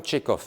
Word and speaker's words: Tchekhov: Alors tout de suite, il parle de Tchekhov, de l'écrivain russe Anton Tchekhov, hein, qui s'écrit T-C-H-E-K-H-O-V. Il y a un H après le K, Tchekhov, et ça se termine par un V.